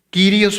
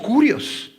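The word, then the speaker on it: κύριος: El vocablo Señor en el griego, kurios, y se pronuncia Quirios o curios.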